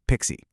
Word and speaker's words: PKCE: The answer here is a massive modern security upgrade called PKCE, often pronounced Pixie.